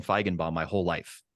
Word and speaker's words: Feigenbaum: I assume I pronounced that right, Feigenbaum. It's close enough. It's close enough. Feigen. When I went to Germany, they said it's Feigenbaum, right? Which is just how you said it.